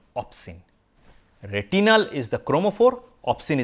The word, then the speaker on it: opsin: pigment the protein is opsin yes I was watching cricket and I would probably mispronounce it as off spin uh like the spin balling but it opsin yeah opsin uh that's the